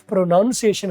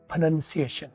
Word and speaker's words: pronunciation: ये जो प्रोनाउंसिएशन बोलते हैं अक्सर, वो इटसेल्फ प्रोनाउंसिएशन गलत बोलते हैं, वर्ड है pronunciation.